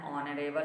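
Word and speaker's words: honorable: यदि कोई words H से प्रारंभ हो किंतु उसका उच्चारण कंसोनेंट की तरह नहीं होकर भावेल की तरह हो तो उसके पहले एन का प्रयोग किया जाता है, जैसे an hour, N ऑनरेबल मैन, an honest man, इस तरह से।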